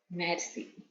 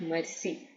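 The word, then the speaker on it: merci: sa thank you is Mery okay sa Mery just go by the pronunciation it's not Mercy it's Mar c okay I'm fine thank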